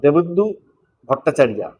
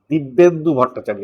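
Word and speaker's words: দিব্যেন্দু ভট্টাচার্য: হোক ভিলেন কি ভট্টাচারিয়া দেবেন্দু ভট্টাচারিয়া দিববেন্দু ভট্টাচার্য উচ্চারণটা এরকম হবে দিববেন্দু ভট্টাচারিয়া যারা বিএ পাস সিনেমাটা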